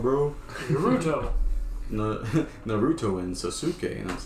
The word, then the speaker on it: Sasuke: And I was like, "You're pronouncing it wrong, bro." Naruto. Naruto and Sasuke, and I was like, That's so funny, bro.